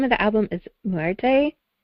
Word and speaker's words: Muerte: And the name of the album is Muerte? How do you pronounce it? Muerte, yeah.